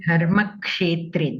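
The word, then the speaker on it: धर्मक्षेत्रे: So here, Dharma Kshetre, the Ksha, you have to be more clear. You are pronouncing it as Sha. Dharma Kshetre, Kurukshetre.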